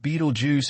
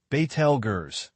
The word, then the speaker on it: Betelgeuse: That red, that is Betelgeuse, pronounced Betelgeuse if you grew up in the 80s, Betelgeuse if you grew up in Arabic.